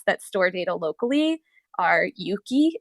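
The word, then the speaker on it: Euki: couple of apps that store data locally are Yuki it's spelled euk Ki and drip but I'm recommending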